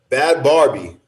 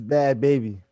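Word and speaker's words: Bhad Bhabie: There's not Barbie. Baby. There's another Bad Barbie. Bad Barbie's a different person. It's Bad Baby. Bad Barbie and Bad Baby is two completely different.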